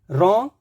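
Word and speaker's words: wrong: रॉन्ग, right, rap, wrapper, wrinkle, wrist, सभी में देखिए डब्ल्यू आर, लेकिन रॉन्ग, right, rap, wrapper, wrinkle, wrist, ऐसे हम इसको बोलते हैं, कभी भी डब्ल्यू का प्रोनाउंसिएशन नहीं देते हैं।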